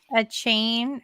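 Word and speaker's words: Achane: A chain. I think that's how you say it. Somebody told me it rhymes with train.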